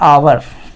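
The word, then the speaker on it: hour: क्योंकि ये स्वर था इस एच को क्या पढ़ेंगे इसको पढ़ते हैं आव ठीक है ऊपर वाले को पढ़ते हैं हॉर्स जबकि नीचे वाले एच को हम पढ़ ही नहीं रहे हैं उच्चारित ही नहीं कर रहे हैं इसका उच्चारण ओ से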